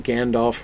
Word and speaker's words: Gandalf: people really understand that we have all been pronouncing Gandalf wrong all these years from appendix e f represents F except at the end of words where it is used to represent the sound of v as in English of